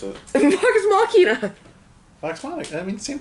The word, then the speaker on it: Vox Machina: How do you pronounce it? Vox Machina.